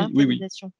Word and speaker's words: winterisation: Alors, je pense que ça se prononce winterisation ou Oui. vinterisation. Pardon. C'est la même chose.